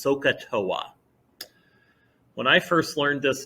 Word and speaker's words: SOHCAHTOA: or a mnemonic device that's usually pronounced socatoa when i first learned